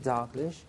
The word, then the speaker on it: Dalglish: way to pronounce it dlish dlish dlish so the stress is on the second syllable and we do not